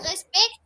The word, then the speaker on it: respect: sujets en signe de respect, Respect. Respect. il Respect, c'est en anglais. Le T ne se prononce pas.